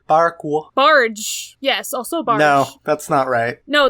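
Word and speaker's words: barque: yeah it's it's a a solar bark is is that how you pronounce that it's got a q in it I don't like that word spell please b a r q u e I don't like that word that looks weird bark bark barge yes also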